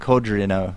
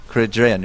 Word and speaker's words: Kodreanu: how scared Kudos and Kodrino are. How do you say Kodrino? Kodreina. Kodrea? Kodreanu. Kodreanu. Kodreanu. Kodreanu? Yes.